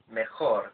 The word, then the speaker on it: mejor: the similar sounding word mejor, very similar in spelling and also in pronunciation. But due to the fact that the guttural sound of the Spanish J doesn't exist in English, then our brains feel